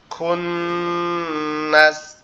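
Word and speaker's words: خُنَّس: খুন্নাস, কুন্নাস। খ দিয়ে এটা হবে খুন, আর কাপ দিয়ে ওটা হবে কুন।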